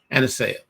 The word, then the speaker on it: Aniseya: How do you pronounce this? Aniseya.